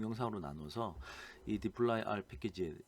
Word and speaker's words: dplyr: 그런 불편함을 느꼈던 사람들이 2d 플라이 r 이라고 제가 지금 딥 플라이 r 이라고 읽었는데요 d 플라이 알이 라고 하는 이 패키지를 만들었습니다 그래서